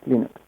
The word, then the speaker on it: Linux: is L stals and I pronounce Linux as Linux I went with just